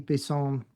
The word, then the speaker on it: Bisson: Well, my name is Bisel and it's pronounced Bison because I'm from born and raised in Montreal, Quebec, Canada.